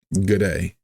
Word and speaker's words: G'day: It's not gur, just gur. The next word, day. Just like how you would normally pronounce day, with the diphthong here, so it's that A sound. Right. Day. With your D pronunciation, it's a very light, soft pronunciation. Instead of having your tongue behind your teeth, you want to move it back a little bit so it just touches the roof of the mouth, very slightly.